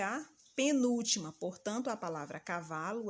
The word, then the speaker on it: cavalo: palavra ele é a penúltima portanto a palavra cavalo é paroxítona é mais um exemplo caneta onde